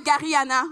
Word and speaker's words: Garihanna: Mon nom est Gariana, ou comme généralement on le prononce ici au Québec.